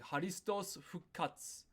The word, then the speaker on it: ハリストス復活: That's because we don't necessarily pronounce all of these letters. So the pronunciation is more like haristos fukatsu.